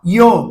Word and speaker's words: yo: O Y tem um sonzinho de já, jo, já, yo, ya. Certo?